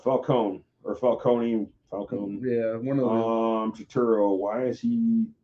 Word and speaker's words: Turturro: John Toretto. There we go. John Toretto. Which I think he's a very Turturro. My bad.